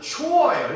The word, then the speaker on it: chore: 얘 발음은 초어예요.